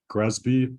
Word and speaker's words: GRESB: sustainability Benchmark which is also known as gresby and sometimes it's pronounced as Gres so you'll hear both of those uh this recommendation is